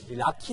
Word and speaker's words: 락희: 거리 란 뜻은 요 낳기 깐 어르신들이 영어에 넣기 라는 뜻을 라키 라고 발음을 하셔서 라피 거리라고 이름이 지어져